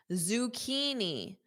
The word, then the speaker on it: zucchini: Zucchini, zucchini, kini. That CH becomes K.